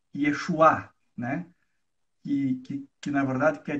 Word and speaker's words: Yeshua: E é quase a mesma pronúncia para a palavra Jesus, que é Yeshua, né?